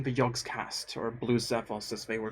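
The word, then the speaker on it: Xephos: they were called there i didn't know but x could be pronounced as a z so i used to call him blue cevos you know with a k because it's an x i thought that made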